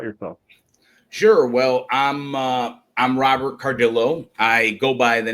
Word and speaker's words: Cardillo: Today, my guest is Robert Cardillo. Welcome to the show. Did I pronounce that right? Thanks for having me. And it's actually Cardillo.